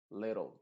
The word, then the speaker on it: little: Por ejemplo, en palabras en donde tenemos que terminan en TLE, esa E del final se viene y se pronuncia entre la T y la L. Y de hecho la T va a funcionar como una R en este contexto. Se va a decir battle, little.